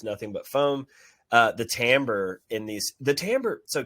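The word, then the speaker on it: timbre: the inside is nothing but foam uh the tamber in these the tamber so tamber is a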